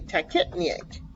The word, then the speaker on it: tachypnea: to say they're kept tech it excuse me tech it me eight it's how you say it okay so see